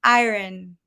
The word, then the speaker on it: iron: So it's iron. It's actually really hard to say. Iron, Iron. Hmm. iron. So Because here, it's like there is the R, but there isn't.